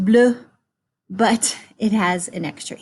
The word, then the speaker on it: bleu: So it's still pronounced bleu, but it has an extra E on the end. If it's plural, it's still pronounced bleu because most final consonants are not pronounced in French.